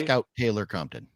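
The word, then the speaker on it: Scout Taylor-Compton: Scout Taylor Compton. Scout Taylor Compton.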